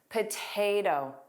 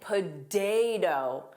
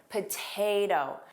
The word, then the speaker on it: potato: Thinking about tomato, listen to this pronunciation, potato. Potato. So notice what's happening here. I'm only turning the last T into the flap T. I'm not saying potato. I'm not saying day. I'm saying potato.